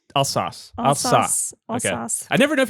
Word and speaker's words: Alsace: And Elixir hops, which I've never tried, from Comptoir Argerolles in Alsace, France.